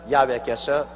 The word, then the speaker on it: 야훼: 왜냐하면 원래 일을 행하시는 여호와 그 일을 지어 성취하는 야훼 하나님이신데, 야훼라 해도 좋고 여호와라 해도 좋습니다. 그러나 야훼란 말이 더 정확한 발음입니다.